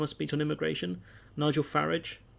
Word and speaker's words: Farage: speech on immigration Nigel farage because apparently that's the English pronouncer not farage that'd be the French one farage he hates it